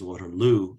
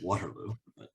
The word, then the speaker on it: Waterloo: Let me begin by thanking what I now know to pronounce as Waterloo University. I would have said Waterloo, and especially the people